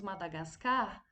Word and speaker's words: Madagascar: segundo quadrinho madagascar então quando nós falamos madagascar a sílaba mais forte foi o carro foi a última então aí a classificação